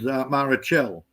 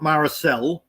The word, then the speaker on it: Marichel: Look, the uh the girls, the Philippine girls, there's a lot of them called Marichel. Not Maracasel, Marichel.